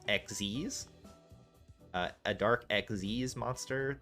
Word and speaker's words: Xyz: see uh a dark xyz monster this is i realize now someone has told me that this is pronounced xz's uh a dark xz's